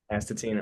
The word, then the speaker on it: Astatine: all right what's up guys I'm here with atine band from Los Angeles California is that is that how you say it how do you say it yeah atin atine all right bet so uh first thing if